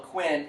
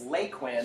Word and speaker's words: Lake Quinn: a CCC camp called some people called McQuinn it's Lake Quinn I learned today they were the locals telling me how to say it is they took